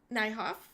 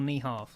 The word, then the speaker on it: Niehoff: Nyhoff. I hope I said your name right. Yeah, that's right. It's Paducah is correct. It's actually Niehoff, like the donkey, not the horse.